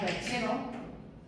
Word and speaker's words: perchero: Si yo tengo una palabra como perchero, me encuentro con que la fuerza de voz está en la segunda sílaba, empezando por detrás.